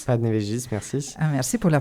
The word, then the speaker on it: Panevėžys: Panevėžys. Panevėžys, merci. Ah, merci pour la prononciation des villes, parce que c'est vraiment une prononciation lituanienne.